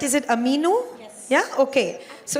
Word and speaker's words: Aminu: Prachi, tell me, am I pronouncing this right? Is it Aminu?